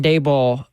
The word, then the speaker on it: Daboll: your thoughts on Brian Dable? Dable. I keep saying Dball. I need to get his name right. Brian Dable like Table uh getting hired as the Titans offensive coordinator officially announced yesterday.